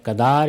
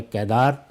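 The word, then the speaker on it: قیدار: تھی، کیل کی اور کیدار کی۔ کیل یا کدار یا کیدار دونوں تلفظ رائج ہیں، تو یہ گویا ضرب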